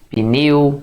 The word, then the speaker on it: pneu: Olha, o pneu é monossílabo? Sim, pessoal, você não pode separar assim, né? Pneu. Tá doido? Não existe sílaba sem vogal, então o P não pode ficar sozinho na sílaba.